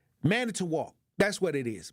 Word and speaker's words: Manitowoc: Sometimes I don't even know how to pronounce that name. Manitowoc. That's what it is. Manitowoc.